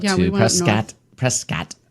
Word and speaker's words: Prescott: We went to we had a Prescott trip, and we went up we to went up Prescott. Prescott. That's what the locals call it.